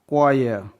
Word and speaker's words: choir: CHOIR क्वायर, C के बाद H है गाइज, यहाँ पास H साइलेंट होगा, यहाँ पास H साइलेंट है।